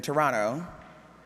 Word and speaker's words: Toronto: remember we were in Toronto yeah you don't pronounce that second to you we were in Toronto and I I just I got really sick